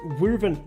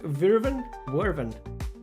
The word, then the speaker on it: Wyvern: All right, I want the Wyvern. How do you say that? Wyvern.